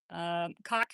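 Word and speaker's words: Cocke: Cock County or Cocky County. I've heard it both ways. There's an E on the end, so it feels a little bit better to say when I know it's spelled that way. But I'm going to say Cocky County because it just feels nicer.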